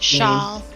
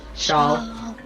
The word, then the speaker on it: Shawl: Shawl. Shawl. It sounds like Shard, but it's not Shard.